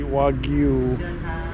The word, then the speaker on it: Wagyu: Well, I gotta say it correctly, Wagyu.